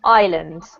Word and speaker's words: islands: right here is actually pronounced with the silent s so it's pronounced Islands okay yeah but apart